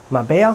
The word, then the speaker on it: Marbella: alle einen Termin in Marbella Marbella so wird es ausgesprochen dort blieb sie auch